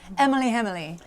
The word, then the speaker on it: Emily: It's pronounced Emily, like libbity bibbity.